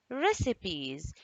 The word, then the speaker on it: recipes: we all say recipes recipes notice something about the c and the i here do i pronounce it i pronounce it sa recipes okay try to